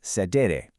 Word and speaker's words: cedere: Our master key is actually a Latin verb, cedere, pronounced sedere.